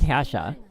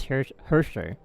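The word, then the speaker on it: Herrscher: Like I pronounce this word Hasha, but everyone goes Hersher.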